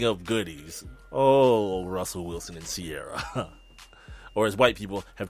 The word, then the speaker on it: Ciara: Just kind of like, just pronounce it correctly. It's not that hard. Sierra, like air in your tires, right?